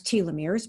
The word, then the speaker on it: telomeres: chat so uh telomeres pronounce telomeres because that's how elizabeth blackburn pronounces it and if that's how she pronounces it since this is her discovery that's how i'm going to pronounce it um telomeres are